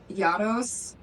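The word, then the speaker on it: Yarros: The author, Yados, is how it's pronounced in the audiobook.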